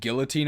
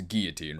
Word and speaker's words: Guillotine: I also pronounced it Guillotine as a kid but it's definitely it's that like the actual pronunciation is Guillotine right because it's like French oh yeah I guess